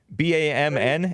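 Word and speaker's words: BAMN: communist organization called bam b-a-m-n it's spelled kind of like the the cuss word damn but it's called bam and it's b-a-m-n and that stands for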